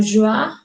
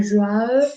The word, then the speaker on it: joie: Entonces, cada que encontramos una OI, el sonido es OA. No OI, sino OA. La joie, esta E al final a veces se pronuncia así y a veces no se pronuncia.